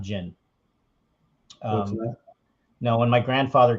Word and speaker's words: Ginn: from kindergarten you know you pronounce it again gin is pronounced gin with two with one n so